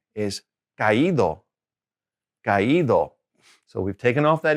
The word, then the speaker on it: caído: Again, accent is caído.